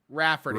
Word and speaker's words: Raefarty: I tried to explain that no one will pronounce that as Rafferty, and she'll probably get plenty of the same mispronunciations.